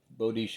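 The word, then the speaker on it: Boudicca: a Celtic Queen bisha some people say buddika I don't like that pronunciation but bodish b o u d c i e a something like that there's a song by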